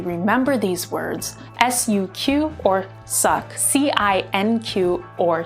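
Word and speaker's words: suq: help you really remember these words s-u-q or suck c-i-n-q or sync q a j a q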